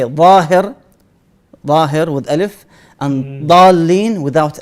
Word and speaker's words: ظاهر: We have two types of dad. The one is with the alif. Let's say ظاهر. So you say ظاهر, ظاهر.